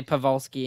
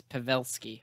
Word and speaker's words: Pavelski: right because dad said oh you can't say pavolsky and you know pawlski it's pavelski whatever so pavelski and then